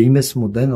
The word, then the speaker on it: Imesmouden: Cette tribu berbère faisait partie de la grande confédération tribale qui s'appelle les Imesmouden en tamazirt, qu'on connaît mieux sous sa prononciation arabe de Masmouda.